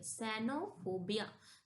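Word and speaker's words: cenophobia: Vowel आता है तो हम उसको सा से प्रोनाउंसिएशन करते हैं। ओके? तो यहां हम सी इ एन ओ इसको हम सैनो पढ़ेंगे। सैनोफोबिया।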